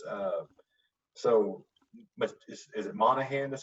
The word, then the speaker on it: Monaghan: remember too is uh so much is it monahan that's how you say it michelle monaghan like with it when this movie came out